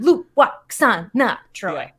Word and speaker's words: Lwaxana: I'm really glad that we've brought in the W into Lwaxana. Because she pronounces it in this episode. She's like, I am Lwaxana Troi.